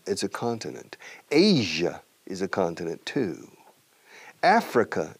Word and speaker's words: Asia: Asia, fijamos la pronunciación, fíjate, Asia, Asia, Asia. Este sonido je no existe en español, pero es un poco como en francés. Je suis, je sais, je, j'ai vu, je, Asia, Asia, ja, sha, shut.